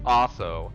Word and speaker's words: Aso: It's been proposed by several people, not excluding former Prime Minister Aso, which rhymes with asshole, and it doesn't.